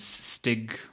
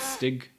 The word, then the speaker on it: Stig: So, considering that the game director is Stig, I forgot his name. Is that how you pronounce the name? I think it's Stig. Stig.